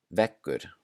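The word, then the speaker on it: veggur: And when it is doubled, it sounds more like a K. So here are some examples. Ek, ek, which means egg. Vekkur, vekkur, which means wall.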